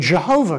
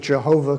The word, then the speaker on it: Jehovah: to pronounce it and came up with Jehovah because Y's are J's, and I won't go there.